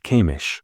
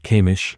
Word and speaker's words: Kamish: They fought a dragon named Kamish. By the way, correct me if I'm pronouncing it wrong, is it Kamish?